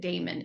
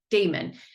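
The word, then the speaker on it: daemon: this idea of and I pronounce it Damon or Damon they spell it d-a-i-m-o-n in this book it comes up this is the tangent and I think they spell it d-a-e-m-o-n in his dark materials I don't have my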